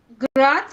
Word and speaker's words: grudge: Grudge, yeah, grudge.